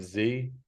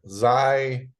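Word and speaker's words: Xi: me no leader yeah Zai it's pronounced Z right Z yeah well he's gonna be 70 soon come on this is your you're running out of harm looking 70.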